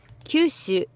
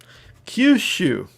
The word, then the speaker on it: Kyushu: Okay, so it's all long. Kyushu. Kyushu. The whole thing.